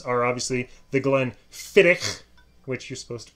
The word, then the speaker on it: Glenfiddich: names are obviously the glenn fittick which you're supposed to pronounce it that way you supposed to have the hack in there yes okay we have